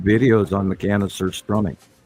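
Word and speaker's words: surströmming: I have been in the room with Sir Strumming as a child.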